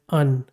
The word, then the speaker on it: Qwen: So in English, it is not pronounced at Qwen with Q. It is just provided as un, U-N. So in this one, E is silent and we don't even pronounce Q. It is just pronounced as un.